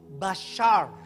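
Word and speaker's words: בשר: huruf bet Shin rest bet Shin rest kalau digabung dibacanya itu Basar daging we are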